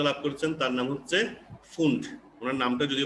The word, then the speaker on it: Pfund: তাহলে ব্র্যাকেটের পরে এরপরে যিনি সফলতা লাভ করেছেন তার নাম হচ্ছে ফুন্ড। ওনার নামটা যদি বানানটা অন্যরকম, PFUND, পিটা প্রথম উচ্চারণ হয় না, তো এটাকে কোনো বইতে ফুন্ড লিখছে, কোথাও ফান্ড লিখছে, যেটাই হোক একই কথা, ফুন্ড ফান্ড যেটাই বলুক।